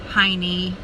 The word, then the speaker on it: Heine: and it's a laura heine i believe that's how it's pronounced as h-e-i-n-e she has this technique